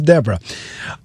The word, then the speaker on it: Deborrah: It's the double R. And so then let me apologize for mispronouncing, because I was saying Deborah, but it is Deborah.